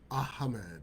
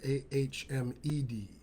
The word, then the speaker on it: Ahmed: said it right yeah ah mad yeah you gotta you gotta you gotta extend the H there's no C or K in there it's ah man wow